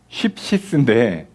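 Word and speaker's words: ἀνάψυξις: 이게 새롭게 된다가 이게 이제 헬라어로 아낙쉽시스인데, 쉽시스 이렇게 발음을 하는데요.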